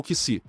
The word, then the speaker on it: Keysi: Quando criança, que estava aprendendo a falar, ele tinha uma maneira especial de pronunciar as palavras em espanhol Keizi, o que significa sim, eu irei.